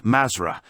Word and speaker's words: Mathra: Mathra is the password for those of 4th degree, which they pronounce Mazra, and which is the lost word for the black magicians.